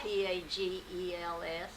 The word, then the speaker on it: Pagels: spelled the last name p a g e LS poggles some people call it pagels so it all do matter whether you like a long a or a short a and uh in other